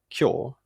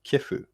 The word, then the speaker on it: 今日: In one of my previous videos, I mentioned in passing that the word for today, kyo, used to be written and originally pronounced kefu.